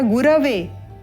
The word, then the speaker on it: गुरवे: कर देते हैं और लिखना क्या है गु र वे और उच्चारण क्या होगा गुरवे या गुरवे उपयुक्त है गुरवे तस्मै श्री गुरवे नमः